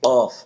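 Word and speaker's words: ق: ফা তারপর হরফটি হচ্ছে কফ। এই কফের উপর দুই নোক্তা। এই হরফটি একটু ধাক্কা দিয়ে পড়তে হয়। কফ ঠোট জায়গায় থাকবে ঠোট গোল হবে না।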